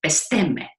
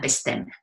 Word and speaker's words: bestemme: And all of these people delivered a little poem that rhymes with 2 words. The word for home in Danish, which is hjemme, and the word to decide, which is bestemme. Hjemme and bestemme.